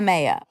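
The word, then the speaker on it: MAOA: really high level of I said it wrong in the interview it turns out you say ma up okay it's MOA mono Amin oxidase thank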